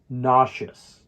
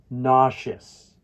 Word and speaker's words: nauseous: as a pronunciation guide nauseous can you try to say it with me nauseous and and remember that the stress falls on the first syllable nauseous now let's use